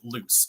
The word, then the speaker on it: Luc: So one character whose name is spelled L-U-C, you actually pronounce it loose, and no one gets it right the entire book, and it's a constant thing.